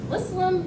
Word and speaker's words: Muslim: No, Muslim is not pronounced like Muslim.